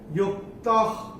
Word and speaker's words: युक्तः: है, इसके साथ जो विसर्ग आ रहा है उसके बाद का अक्षर है क, और विसर्ग जैसे मैं ऊपर आपको बताया था, ये जैसे विसर्ग के बाद अगर क आता है तो विसर्ग का उच्चारण होगा ख, तो ये इसका उच्चारण होगा ख।